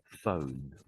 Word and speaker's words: phone: So, the ph is basically the f sound.